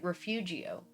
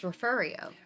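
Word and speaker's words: Refugio: And it's it's spelled like refugeio. Like if you were to if you were to like if you were to like phonetically sound it out, it looks like refugeio, but it's referio.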